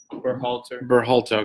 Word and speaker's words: Berhalter: All right, now, how do you pronounce this guy's name? Berhalter.